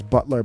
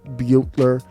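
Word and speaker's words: Herrera Beutler: house butler all right i don't know how to pronounce her last name i thought it was butler but i think it's beyo buetler upton and then peter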